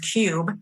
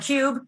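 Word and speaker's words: Qube: app it's actually a brand new app called cube and that's spelled with a q so q-u-b-e and what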